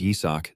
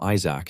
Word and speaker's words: Yisak: Even though his name is Yisak, these guys always pronounce it wrong and call him Isaac instead.